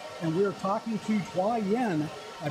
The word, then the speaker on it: Taiyuan: We are at the Asian Student Cluster Competition 2018 edition, and we are talking to Taiyuan. I pronounce that right? Taiyuan. Taiyuan.